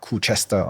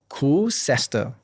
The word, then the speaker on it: Koocester: minutes before this podcast that it's not Koocester, okay? Public announcement. It's actually Koocester.